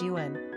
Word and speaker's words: Eoghan: Tyrone is the name of a county in Northern Ireland, from the Irish Gaelic Tir Eoghain meaning land of Eoghan, whereas Eoghan, pronounced like Owen, means born from the yew tree.